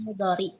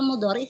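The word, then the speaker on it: mudhari': Rosa berarti fi'il mudori. Mudor fi'il mudhor. Mudori apa? Mudhori sih, Ustaz, kalau bacanya yang benar.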